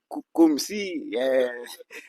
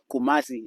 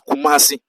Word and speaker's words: Kumasi: They pronounce in many ways. Some they say kumi, some they say kum kumi many many ways but I I I normally correct them in the right name is Kumasi and the city of the Ghana especially second